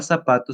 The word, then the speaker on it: zapato: fenómenos veamos algunos ejemplos la palabra zapato se pronuncia con s en lugar de la z debido al cc del mismo modo la